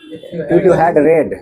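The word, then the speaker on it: read: हाँ, इफ यू हैड रेड, रीड का pronunciation रेड होगा।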